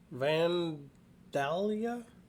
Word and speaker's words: Vandalia: Vandalia? Vandalia, probably. Vandalia? Illinois? Never heard of it. Me either. Vandallia. Usually that's pronounced Vandalia. That's at least how West Virginians pronounce it, because we have a Vandalia music festival.